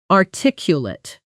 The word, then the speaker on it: articulate: As an adjective, it's articulate, softer at the end.